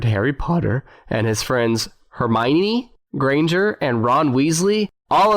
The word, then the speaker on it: Hermione: the movies came out if everyone pronounced it hermoine i think they did i remember hearing something about that and then the movie said everybody straight but something about the name hermione sounds it strikes me